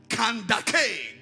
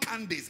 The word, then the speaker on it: Kandake: And behold, a man of Ethiopia, an eunuch of great authority under Kandake. That is not Candace, it's Kandake. That's the real pronunciation.